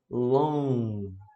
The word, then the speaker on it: long: Long time, a gente não pronuncia esse G. Então, como é que você vai falar de fato, né? Long. Só vai parar no L, no N. Long. Long. Não fala o G, não fala long ou long.